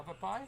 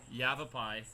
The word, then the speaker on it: Yavapai: the very special College Shabab e I'm not saying that right yeah Popeye Yavapai sorry oh I told you